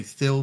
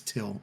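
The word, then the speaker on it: Thil: t-h-i-l h i o I know you would want to say fill but it's till the H is silent gotcha I am a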